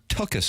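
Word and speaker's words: tuchus: In all sincerity, it seems that Martin works his tukus off. Is that is that a proper pronunciation, Jackson?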